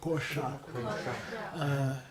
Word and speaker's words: Kosha: And he uses the retroflex, although it's optional. Kosha. Twist your tongue back. Kosha.